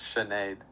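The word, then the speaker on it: Sinéad: How How do How do Well, her her name is Irish, so it's Chenade with a sh.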